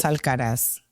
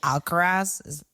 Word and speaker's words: Alcaraz: Like Alvarez, they say Alcaraz. And I'm like, it's not E-Z, guys. It's A-Z.